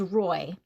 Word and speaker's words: Roy: having a conversation with Rory and cow Rory Rory well I'm not I can't pronounce his name for some reason uh learned how to play chess in prison oh his name is Roy I'm like what are